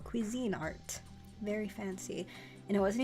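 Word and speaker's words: Cuisinart: the Kine art one which I always thought it was cuzy I I don't know I don't know how I thought it pronounced but I I I watched videos on how to use the ice cream maker and they said Cuisine Art very fancy and it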